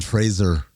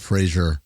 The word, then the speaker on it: Fraser: It's like Brendan Fraser, not Frazier.